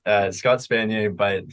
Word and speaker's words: Spanier: yeah it's uh Scott spanier but phonetically it makes no sense so s-p-a-n-i-e-r I'm not cheering there's no yay at the end of my name uh but yeah LinkedIn